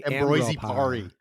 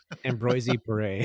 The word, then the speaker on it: Ambroise Paré: No, you just say Ambroise Paré. Like that's French for Ambroise Paré.